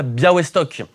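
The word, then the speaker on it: Białystok: On l'a dit donc une miniérie sur le Yagelonia Biawestock. Ça s'écrit Bialistock mais ça se prononce Biawestock.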